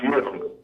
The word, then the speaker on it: Guillaume: I'm saying your name wrong. Yes. Did I say it right? You don't say my name right. It's Guillaume.